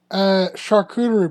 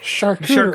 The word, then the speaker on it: charcuterie: You just gotta spell it like chart, but with a CH instead. Yeah, charcuterie. Char, cute, rye, board.